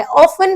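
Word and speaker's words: often: शिरिन पूछती है, आई practice a लॉट, मैं बहुत प्रैक्टिस करती हूँ, बट आई ऑफन fall sick, पर मैं अक्सर, ऑफन मतलब होता है टीस में साइलेंट होता है, अक्सर मैं क्या हो जाती हूँ?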